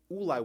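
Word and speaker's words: אולי: Ulai without a vav, which can also be pronounced Eli, which means to me. So Rashi there tells us that the reason why it's spelled without a vav, when it's spelled that it could be pronounced Eli, even though it also could be pronounced Ulai, is to tell you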